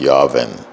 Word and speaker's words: Yarvin: It's Yarvin.